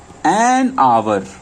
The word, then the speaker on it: hour: Now you go for, before words begins with silent H but sounds as vowel. Example, an hour. It's not hour, it's hour. An hour. An honorable man.